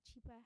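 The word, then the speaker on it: Chiper: locally and across borders now cheaper is spelled c-h-i-p-e-r and yes it's an app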